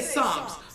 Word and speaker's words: Psalms: I mean, why can't we just say Psalms? Otherwise what a guy said psalms because when you pronounce the p it's not just psalms anymore but it's a silent letter that means so much anytime you find yourself